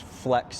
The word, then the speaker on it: FLX: that this is the non flx pronounced Flex version of this trailer it